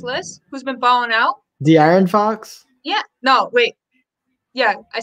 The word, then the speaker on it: De'Aaron Fox: How come DeAndre Fox is not on this list, who's been balling out? De'Aaron Fox?